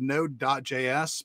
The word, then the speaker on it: Node.js: that it's always spelled node.js but even if it's spelled node.js you just say node so oh this is